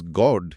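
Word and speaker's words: Gaud: Trick trick মাথায় এলো এই গডের উচ্চারণটা অনেকটা গড বা ভগবানের মত তাই না?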